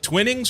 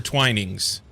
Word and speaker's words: Twinings: Is it Twinnings or Twinings? I always say Twinnings because it looks like Twinnings to me. But I never know what the proper pronunciation is for localities. The later. Twinings.